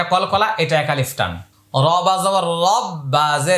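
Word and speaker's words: ربي: সুহানা তাহলে এটা কলকলা এটা এক আলিফট রবা রববা বি রব্বি রব্বি ইয়া লাম জবর ইয়াল রব্বি ইয়াল আলিফটা উচ্চারণে আসবে না হামজা আইন জবার লাম খারা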